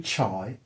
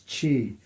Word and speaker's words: Chi: Put my name in, Chi, not Chai, as some people have pronounced it. It's Chi. Chi is spelt C-H-I, but it's pronounced C-H-E-E-E. Chi. Even though it's written C-H-I.